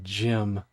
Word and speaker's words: GM: In Battletech, there are several mechs made by GM because in Gundam, there's a mass production model known as GM, but the pronunciation is literally gym.